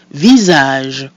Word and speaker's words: visage: Visage. Visage. So our I is pronounced I, the letter A is pronounced A, and the mute I at the end is silent, giving us visage.